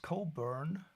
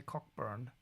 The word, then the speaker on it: Cockburn: Probably pronounced Cobburn. Well, I'm a German and I'm allowed to say cockburn, but the transcription was was okay, I think.